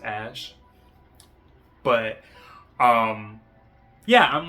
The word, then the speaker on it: Æ: The A and E together is pronounced ash.